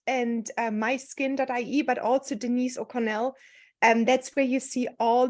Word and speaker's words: O'Connell: But Denise, why don't you introduce yourself with a proper name pronunciation, maybe? Well, first of all, thanks for having me, Katrin. And Denise O'Connell is my name.